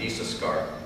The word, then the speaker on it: Issachar: And she named him Issachar, which is actually pronounced Issachar, which I thought was interesting.